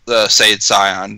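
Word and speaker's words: Saiyan: a super Scion yeah he also quickly pronounced supers say it's ion because that's how you're supposed to say it it's not supposed to be seen say ins a stupid Funimation thing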